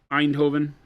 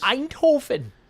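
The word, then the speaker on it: Eindhoven: They're going from our office in France to uh Einhovven in the Netherlands. Einhovven. Yeah, that's exactly how it's pronounced.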